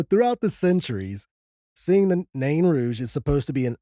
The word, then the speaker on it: Nain Rouge: There has been multiple different pronunciations of this crypted. I have watched so many news stations in Detroit pronounce this completely different. Some pronounce it nan rouge. Nan rouge. Non rouge. Nouge. Na. Yeah, just a bunch of different ways. So, we're just going to pronounce it na rouge.